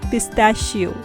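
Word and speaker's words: pistachio: पिस्ता को इंग्लिश में बोलते हैं हम पिस्ताशियो। यहाँ पर CH की साउंड श की आती है तो आप इसके बोलेंगे पिस्ताशियो।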